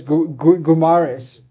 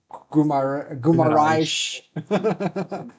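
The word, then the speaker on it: Guimarães: You're gonna say the name wrong. I can tell. Who's this? Gumares. Gumaraish. Gumaraish. Gumaraish.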